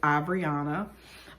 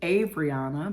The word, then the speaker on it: Abriana: pronounce that or whatever and it's Abriana but um there are still several people in my life who swear my name is Adriana because my father's name